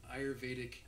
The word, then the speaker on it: Ayurvedic: and she texted me a pronunciation key, which was I. As an I. You're, Y-U-R, not a word. Vay, V-A-Y, Also not a word. also not a word. Dick. That's a word.